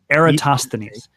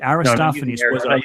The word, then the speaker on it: Eratosthenes: this really bugs me Aristophanes was a poet Eratosthenes was the librarian at Alexandria who did this so it's with an e er a TOS th e M yes Eratosthenes yes Aristophanes with a pH Eratosthenes was a poet okay and actually his there